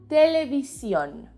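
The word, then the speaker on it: televisión: say television in spanish just like menu television has a tilde a spelled accent mark in the last o not much just watching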